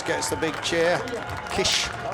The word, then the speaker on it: Kiss: stops in Germany and kiss gets the big chair Kish as he pronounces it obviously these pronunciations are